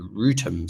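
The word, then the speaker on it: Wrotham: Um, on the Temp's Link or Southeastern that go to, uh, Ara Green and Rutum station, uh, which is spelled B O R O U G H.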